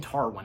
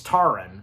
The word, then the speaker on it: Taran: So Tarwin, Tarin, he um I'm saying Tarwin. I'm Tarin. It's Tarin.